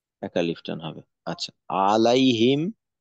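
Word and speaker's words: عَلَيْهِمْ: আলিফ টান হবে আচ্ছা আলাইহিম আলাইহিম এখানে লিনের হরফ আছে পাতলা করে পড়তে হবে লাই আচ্ছা পাতলা বলতে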